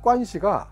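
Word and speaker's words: 关系: 서양이나 중국의 학자들은 중국의 관시 영어로는 guan x 시 중국어 발음을 그대로 적습니다 왜냐면 중국의 권시은 서양의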